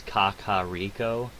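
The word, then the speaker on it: Kakariko: have a pronunciation yeah according to Zelda Wiki the pronunciation is Kakao um reason is it may have originated from the word Koko Rico which is a French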